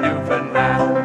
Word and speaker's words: Newfoundland: It's our home and native land, Newfoundland, it's pronounced like understand.